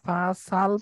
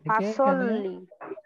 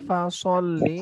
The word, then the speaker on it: فَصَلِّ: আবার আমি فَصَلِّ لِرَبِّكَ وَانْحَرْ فَصَلِّ لِرَبِّكَ وَانْحَرْ এই যে এখানে ফাসাল পড়ে থাকে, ফাসল্লি এটা হবে ফাসল্লি, সল্লি স এটা মোটা হবে, সল্লি ফাসল্লি উচ্চারণ করতে হবে এবং এখানে গুণা হবে না।